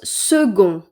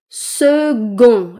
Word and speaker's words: second: Et bien, on le prononce second et pas con ou ce con. Second. Le C que vous voyez se prononce G.